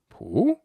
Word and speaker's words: Pú: Now if we say it flat like this poo that's the Dalamese word for a parasol going on poo in an upward tone is the infinitive form